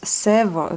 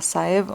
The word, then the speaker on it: Sèvres: Je pense que ça se prononce Sèvres, pas Saèvres mais Sèvres.